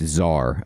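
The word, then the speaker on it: TzHaar: I ever did know how do I pronounce tar like what is the pronunciation of that so I can say that correctly and then it's just Zar okay and then the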